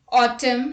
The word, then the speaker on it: autumn: N is not pronounced when it comes after M at the end of a word. Let's look at the examples. Autumn, hymn, column, solemn, etc.